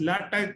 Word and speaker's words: LaTeX: It is pronounced written LaTeX, but pronounced LaTeX or Sutoro, or even many other softwares are.